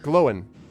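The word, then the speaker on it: Glóin: Glowin. Gloin. That's how I've always heard it pronounced in English. Glowin. Oh, okay. There's an accent on the I Mhm. to emphasize it.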